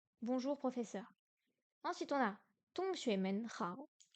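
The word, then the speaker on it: 同学们好: 同学们好， Hong, deuxième ton. Xue, non, xue, deuxième ton. Men, ton neutre. Hao, troisième ton. Tong, non, avec un petit H. Tong xue men hao.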